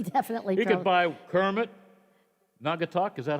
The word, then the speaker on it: Naugatuck: He definitely He could buy Kermit, Naugatuck, is that how you say it? Yes, Naugatuck.